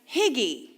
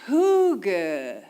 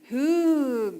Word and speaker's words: hygge: But it's actually pronounced hug. Hug.